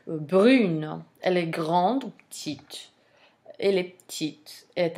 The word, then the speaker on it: petite: When the final consonant is followed by an E, you pronounce the consonant. So the consonant becomes sonore, basically, in French, in feminine form. Whereas the consonant is mute in masculine form. When a word ends in a consonant, you don't pronounce it.